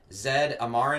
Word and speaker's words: Zed Amarin: guest today from axis uh bass drum pedals zed amaran am i pronouncing that right yes sir all right i